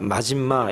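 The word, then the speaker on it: מזמה: 여기서 근신함이라고 하는 그 단어가 마짐마 이렇게 히브리 말로는 그렇게 발음을 해요.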